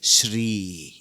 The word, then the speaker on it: Shri: Sh plus R plus E is Shri.